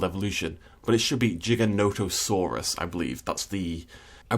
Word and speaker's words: Giganotosaurus: on jurassic world evolution but it should be giganotosaurus i believe that's the i believe that's how